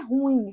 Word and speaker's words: ruim: Ruim, não é ruim, viu, gente? A pronúncia é ruim. Ruim, não tem acento.